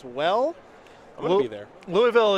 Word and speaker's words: Louisville: i'm gonna be there louisville is a good way to sound like a tourist when you roll into town louisville there you go